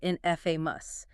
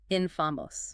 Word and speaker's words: infamous: The classic error here is stressing the wrong syllable. You often hear in fa, but the correct British pronunciation stresses the first syllable. Infamos.